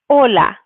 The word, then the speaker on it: hola: So, but first, we have número uno, we have hola. Hola. So as we know, the H, the first letter, the H is always silent, so that's why we're not pronouncing it.